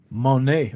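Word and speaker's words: Moné: microphone but yeah Mercedes Monee or money what is her last name is it money she pronounced it like the currency like money but it it looks like Monet to me but she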